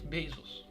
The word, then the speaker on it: Bezos: was worth twice jeff bezos how do you pronounce jeff bezos bezos ladies and gentlemen i present to you